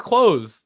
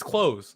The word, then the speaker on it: clothes: How do you pronounce clothes? It's clothes. It's not cloth. Yeah. It's like clothes. Give me the clothes. Like close the door.